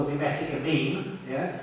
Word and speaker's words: meme: called a mimetic, a meme, yeah, Rhymes with Cream.